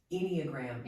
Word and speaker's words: Enneagram: Enneagram.